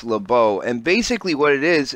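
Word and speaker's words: Labo: called the Lobo or some people have called it lab oh I believe it's pronounced Lobo and basically what it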